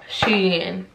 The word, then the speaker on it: SHEIN: Oh, it's actually, y'all, did y'all know it's actually pronounced SHEIN.